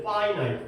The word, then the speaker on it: finite: 근데 오히려 이 finite 발음은 좀 달라져. infinite 근데 원래는 finite, finish이 아니라 finite. 이 유한하다.